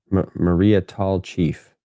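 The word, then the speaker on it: Maria Tallchief: So they ran it together in the name, but I guess you sp you just say it as two different words.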